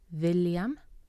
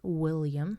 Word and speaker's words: William: William has a V sound, V, William, not William as in English.